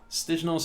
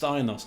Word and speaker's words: Stijnos: Stijnos is pronounced Steinos.